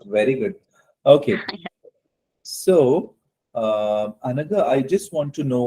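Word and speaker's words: Anagha: raised the hand okay let me go the anaga A N A GHA if I'm pronouncing it correct yes you are sir okay so um can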